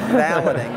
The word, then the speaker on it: valeting: They don't pronounce it's actually valeting, but they don't pronounce the French, so it's valeting.